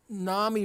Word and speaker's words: NAMI: token psychiatrists was basically Nami rhymes with Mommy because the vast majority